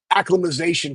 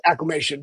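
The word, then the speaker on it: acclimation: like to call it acclimization period. That's add more That's what my favorite coaches add more syllables in acclimization. Yeah, it's acclamation. But anyways, they're they're they're helmets.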